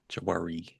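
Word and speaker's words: Jwari: JW Marriott, a Jawari.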